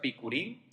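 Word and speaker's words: בִּכּוּרִים: Entonces, primeros frutos viene del hebreo que se pronuncia bikurim, para los que les interesa esto, y se celebraba la fecha del 17 de Nisan.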